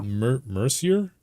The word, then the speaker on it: Mercier: Mercier? Thank you. That's not Mercer. That's definitely not Mercer.